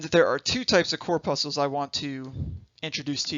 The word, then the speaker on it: corpuscle: puzzle so let me clear this up i'll spell it for you corpuscle and there are two types of core puzzles i want to introduce to you the first